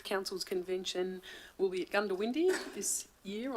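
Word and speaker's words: Goondiwindi: convention will be at Gunda windy this year I'm assured it's pronounced gun to windy uh by by local so I hope that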